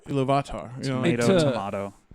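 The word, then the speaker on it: Ilúvatar: He says like, and he doesn't say Iluvatar, he says Iluvata, right? Yeah, like that. Iluvatar. Iluvatar.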